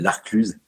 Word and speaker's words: La Clusaz: ce qui est magnifique qui s'appelle l'arcluse enfin ça s'écrit l'arc Luza La Clusaz pour les parisiens pour